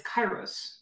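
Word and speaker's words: kairos: time in ancient Greek and this word is chyros it's spelled k a i r oos and what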